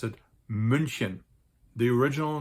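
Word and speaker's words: München: in Germany with almost 1.5 million inhabitants is pronounced munin there is actually an English spelling to that City's name Munich but in German we pronounce it munin the original name of Munich munin was actually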